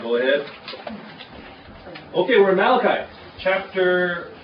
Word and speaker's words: Malachi: book of Malachi Malachi it is not pronounced Malati it is Malachi and we have five